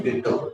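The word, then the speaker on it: ditto: इसका सही उच्चारण है डिटो।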